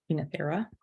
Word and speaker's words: Oenothera: Technically, OE is supposed to be pronounced E, Oenothera.